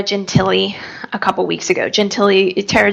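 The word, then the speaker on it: Gentile: a couple weeks ago Gentilly Tara Gentilly she's a the last name is spelled g-e-n-t-i-l-e it's always kind of doesn't it isn't spelled the way it sounds right so I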